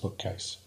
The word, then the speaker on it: BKCASE: of knowledge and curriculum to Advanced systems engineering pronounced bookcase the bookcase project owes a huge debt to